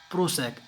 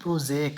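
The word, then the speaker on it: prosaic: प्रोसेक आप उसको पढ़ेंगे प्रोसेक, इसकी प्रोनाउंसिएशन क्या होता है, प्रोजेक।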